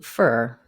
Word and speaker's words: for: Usually when speaking, for is reduced to fur. Rather than it's for you, we say it's for you.